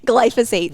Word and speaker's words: glyphosate: Glyphosate.